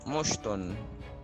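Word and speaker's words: مُشْطٌ: Kalau dalam contoh ini mushtun, bacanya mushtun.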